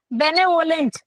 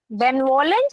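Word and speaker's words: benevolent: Next question is choose the synonym of बेनेवोलेंट। बेनवोलेंट या बेनेवोलेंट भी बोलते हैं इसको। ठीक है? दो तरीके से प्रोनाउंस कर सकते हैं।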